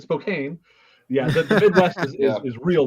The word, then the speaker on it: Spokane: Not Spokane. Spelled the same as Spokane, but Spokane.